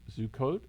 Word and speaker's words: Sukkot: And I had the experience of Sukkot. Is that how you pronounce it? Yes. And that's one with, I hate to say it, with the hut built outside. Do I have You that got it right.